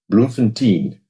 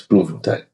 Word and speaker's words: Bloemfontein: Um I remember I remember people talking about Bloemfontein. I said, "No, no, no, no, it's Bloemfontein." There's no such thing as Bloemfontein.